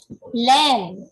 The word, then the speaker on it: len: Len, is it correct? Yes. Okay, wool is lang in Vietnamese.